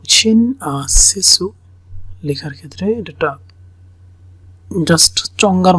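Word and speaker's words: 親切: সো শব্দটা হচ্ছে এরকম শিন সেসু, শিন সেসু, শিন সেসু, সেজু, TSU, মানে এটার উচ্চারণটা TSU।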